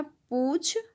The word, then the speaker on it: पूंछ: फिर उसी तरह से यहाँ है पूछ और यहाँ है पूंछ, पूछ पूंछ, दोनों का उच्चारण अलग है।